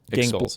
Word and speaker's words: Gingles: Gingles. It is gingles.